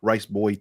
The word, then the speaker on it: Riceboyyy: uh I'm rice uh I stream on Twitch riceboy TV that's with three wise it's actually pronounced rice Boy TV and uh I just